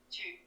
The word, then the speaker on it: tu: Mas olha como se fala tu em francês. Dá uma olhada. Tchu, É quase um tio. tchu, tchu, tchu. Tipo, assim, com a língua bem fechada.